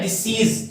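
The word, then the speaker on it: decease: ये डिजीज, इसको बोलते हैं डिजीज, और ये होता है डिसीज। थोड़ा सा डिफरेंस है इसके अंदर जो प्रोनाउंसिएशन के अंदर।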